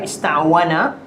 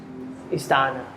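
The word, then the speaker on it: اسْتَعَانَ: So when you have an alif and it doesn't sound right, ista'wana, so you would have to add what is sort of near to the fathah. So this one changed to alif, and in order to pronounce it correctly, this fathah goes back here, so it becomes ista'ana.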